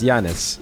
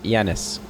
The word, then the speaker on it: Janus: everywhere we go and I've been pronouncing the name wrong it's Janis yanis Your Existence is not